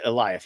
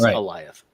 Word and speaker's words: Eliath: Yes, I would say Eliath. Yeah, it sounds like Goliath, but it comes out as Eliath.